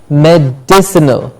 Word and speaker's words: medicinal: medicine er the stress is on dick surrogate medicinal medicinal yes America now this is another one